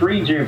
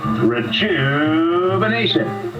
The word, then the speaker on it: Rejuvenation: What's this reju thing gonna cost me? $129, but you're not saying it right. How am I supposed to say? Rejuvenation.